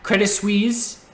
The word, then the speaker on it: Credit Suisse: And we had Credit Suisse. I was informed that you don't pronounce the T, but they were shorting again all day today.